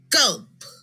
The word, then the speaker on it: gulp: In this word, the G is followed by a U. Therefore, the G is a hard G. This word is gulp.